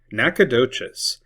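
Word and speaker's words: Nacogdoches: Nakadocious. Basically, the G is silence.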